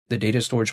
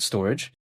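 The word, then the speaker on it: Storj: there's storage but then it's spelled like store j like s t o r j but then a lot of people call it storage but besides that point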